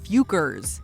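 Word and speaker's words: Focker: Legal paperwork, the company emphasizes that it's pronounced Fukers.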